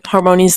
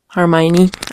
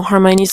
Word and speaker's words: Hermione: new um brooms and then Harmon's like Hermione. I always pronounce her name wrong. I don't really know.